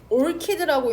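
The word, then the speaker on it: orchid: 올키드라고 읽는데요. 올치드가 아니라 올차이드도 아니고 올키드 난초.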